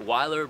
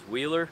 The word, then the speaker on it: Weiler: Today, we're here at Weiler Abrasives here in the Poconos of Pennsylvania. Some of you might know it as Wheeler, like I did, and apparently we've been saying it wrong.